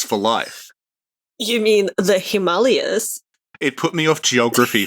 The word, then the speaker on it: Himalayas: ] up about how the correct way to say it is he Molly and this put me off the Himalayas for life you mean the Himalayas it put me off